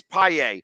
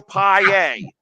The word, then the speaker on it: Paye: Hey, listen, my last name's Paye, like Yippee-I-Yo Paye.